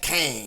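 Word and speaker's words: Qeng: avengers tower not exactly it reads q-e-n-g and you pronounce that kang yeah now speaking of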